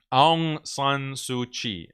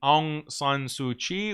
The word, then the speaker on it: Aung San Suu Kyi: And this was led by this Nobel Prize winning Burmese woman, Aung San Suu Kyi, I believe is how you pronounce her name.